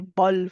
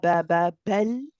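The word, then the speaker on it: بل: part of this ayah, we have the word bel. Now, these are both lines, so be careful you're not saying ba. We do not want to say bal, for example. It's ba, bel. The lam is like the meme in terms of timing. So just how we said we'll say bel.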